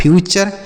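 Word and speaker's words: future: उसी तरीके से एफ यू को पढ़ेंगे फ्यू और टी यू आर ई को पढ़ेंगे चर। तो यह लिखा है फ्यूचर।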